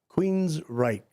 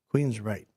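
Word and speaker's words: Queensrÿche: metal band uh uh Queens Reich. That's how you say it. Queens Reich.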